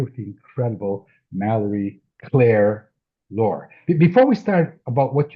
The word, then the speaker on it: Loehr: I said I always say you pronounce it like folklore because that seems to be on brand, right?